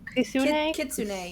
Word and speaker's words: kitsune: How do you say fox again? Uh kitsune. Yeah. Kitsune.